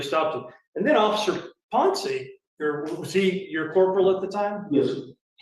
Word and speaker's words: Ponce: And Officer Ponce, is that how you pronounce his name, Ponce? Ponce, yes.